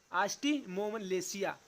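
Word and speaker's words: osteomalacia: ठीक है, मुझे भी बोलना नहीं आ रहा है लेकिन जो सही है इसका उच्चारण है आस्टिमोमलेसिया, जो बड़ों में वयस्कों में होता है।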